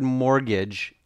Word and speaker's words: mortgage: so use the word mortgage in a sentence yes the T is silent to pick in this